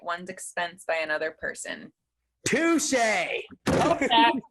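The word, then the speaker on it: Touché: Touche. Touche. How do you know how to spell that?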